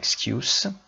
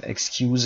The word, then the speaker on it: excuse: اگه برای کارتون دیر کرده باشید در توکیو، تأخیر داشته باشید as an excuse. excuse اینجا تلفظش دقت داشته باشید اسم هست. excuse نمیگیم این رو.